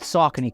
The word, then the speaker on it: Saucony: And yes, I know I said Saucony correctly because that's how it's pronounced.